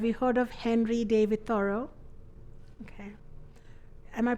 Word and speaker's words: Thoreau: Have you heard of Henry David Thoreau? Okay. Am I pronouncing his name correctly?